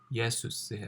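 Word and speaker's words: Ἰησοῦς: 그리스어에 나오는 예수님의 이름은 예수스예요. 그러니까 우리나라 말이 조금 더 예수님의 발음에 가깝죠.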